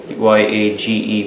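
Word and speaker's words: yagé: ayahuasca, which they call yage, Y-A-G-E, but in Spanish it's pronounced as yage.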